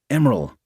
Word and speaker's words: MRL: MRL, when spoken, is pronounced Emeril.